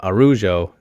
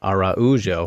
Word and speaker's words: Araujo: a black belt uh arujo here or was for stamina araujo right you got to get the pronunciation correct there um very very